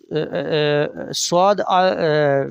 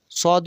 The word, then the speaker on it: ص: Swad is some word, seen is simple, light. Seen, swad. When you will pronounce the swad, then circle your give lips.